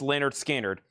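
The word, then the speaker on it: Lynyrd Skynyrd: Leonard Skard's pronounced Leonard Skard.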